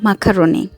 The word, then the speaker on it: macaroni: এই যে পাস্তাটা, এইটাকে অনেকে পাস্তা বলেন, ম্যাকারনি, কোরিয়ান উচ্চারণে হচ্ছে মাকারনি।